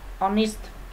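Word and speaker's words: honest: là cộng với Còn onest cái này là dùng chứ không dùng ơ vì cái từ cái từ này âm h câm Chúng ta đọc từ này bắt đầu bằng âm o onist chúng ta dùng ân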